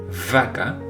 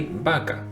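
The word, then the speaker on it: vaca: like V right but in Spanish it's the same as the letter B so therefore we don't say vaka we say Baka in English you have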